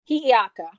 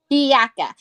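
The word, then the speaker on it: Hiʻiaka: And Pele and wait, can you pronounce her name again for me? Hi'iaka. Hi'iaka.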